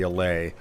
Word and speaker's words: allay: Um, it I didn't know if I was pronouncing it wrong or something cuz that's been known to happen. No, I'm I'm pretty certain that that that you said it right there, the allay.